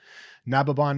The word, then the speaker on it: Nababan: Nababon is spelled Nababan, and